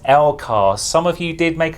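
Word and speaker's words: LCARS: The Next Generation inspired lekar display yeah yeah I know I mispronounced lekar is meant to be pronounced l cos some of you did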